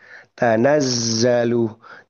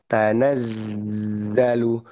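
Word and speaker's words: تَنَزَّلُ: Untuk huruf zai kita bisa latih untuk huruf zai pengucapan huruf zai di ayat keempat dari surah al-Qadar. Tanazzalu. Tanazzalu. Tanazzalu ya. Tanazzalu gitu ya. supaya huruf zai ini tidak terucapnya dengan huruf jim.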